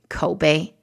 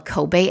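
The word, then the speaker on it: Koubei: that's spelled e-l-e-m-e and alibaba's new retail subsidiary kobe that's spelled k-o-u-b-e-i if you'll remember alibaba had completed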